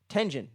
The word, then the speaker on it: Tengen: Tengen. There you go. Tengen. I always want to say Genten for some reason.